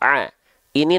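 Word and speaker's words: عين: Jangan sampai ada yang mengatakan bahwasannya ini adalah huruf a. Ini namanya adalah huruf ain. Oke. Huruf ain ini kesalahan yang sering kali terjadi, pelafalannya tertukar dengan apa? Dengan huruf hamzah.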